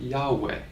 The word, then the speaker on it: Yahweh: His name is, and we pronounce that Yahweh.